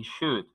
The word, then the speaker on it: should: Ahora yo les voy a plantear el uso de los modales could y should. Could y should son verbos modales que tienen una L que no se pronuncian. Could, should.